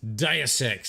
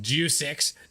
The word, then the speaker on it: Deus Ex: uh juicex no grizz deus ex that's how you pronounce it not due sex deus ex uh as